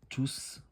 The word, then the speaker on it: tous: هنا الا بغيت نحيد لي زونفون نخلي غير توس، غادي نقول توس سون فونو. هذه هي الحاله الوحيده اللي تنقولوا فيها توس وتنطقوا فيها تي او يو اس، توس، وتنطقوا